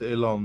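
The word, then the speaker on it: Oileán: uh ilon the it spells oen but it's pronounced ilon and means Island not not as in the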